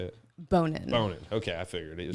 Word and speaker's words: Bonin: Is it Bonin?" But you get a lot of jokes. Well, it's like boner jokes, but it's actually pronounced Bonin. It's French, Bonin? but it's just Bonin. Well, like I'm Job, so